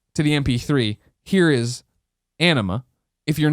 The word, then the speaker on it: Anima: A-N-I-M-A.